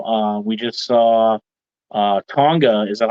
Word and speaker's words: Tonga: bloodline you know uh we just saw uh Tonga is that how you say it yeah okay